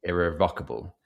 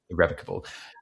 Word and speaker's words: irrevocable: I think the word was irrevocable, but I said irrevocable, and they said, oh, the stress is on the first sort of the rev. Yeah, irrevocable, and I was like, oh, I didn't know that.